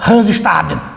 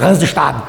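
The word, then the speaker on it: Hans Staden: que vai se chamar Hansestaden. Ô, professor, mas por que você falou assim? É que alemão é assim, né? A gente tem que falar, pronunciar dessa maneira, Hansestaden.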